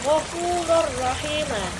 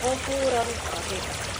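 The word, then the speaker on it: غفورا رحيما: Ya, jadi ee tanwin fathainnya masuk ke dalam rnya yaitu gfurur rahim. Tidak dibaca gfurun rahim. Jadi gfurrahim ya.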